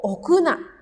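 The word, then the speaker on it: 置くな: Jadi enggak boleh nim okuna dibacanya o. tidak boleh ya okuna.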